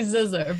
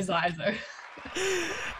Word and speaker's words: Zisser: Hey guys, it's actually Zisser, but lots of people say Zisser.